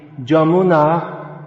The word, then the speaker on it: Yamuna: all the same so therefore the river in bengali the river yamuna in vrindavan becomes the jamuna in brindaban and actually these sounds